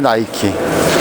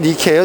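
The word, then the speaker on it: Νίκη: 바로 나이키 져 승리의 나이키 원래 그리스도론 니 케어 디케 요걸 이제 영어식으로 발음해 가지고 나이키가 된거고 근데 운동화 때문에 u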